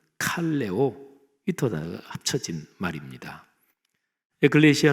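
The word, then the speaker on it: ἐκκλησία: 먼저 교회 교회 란 단어는 신약성경의 언어인 헬라어로 에클레시아 라고 발음합니다 저희 타 너는 두 단어가 합쳐진 말입니다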